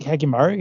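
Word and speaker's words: Hyakkimaru: We've talked a lot about how did I pronounce that? Hakimaru? Hakimaru, yeah.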